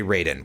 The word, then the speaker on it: Raiden: If I meant the guy from Mortal Kombat, I would say Raiden, which is how it's properly pronounced in that franchise.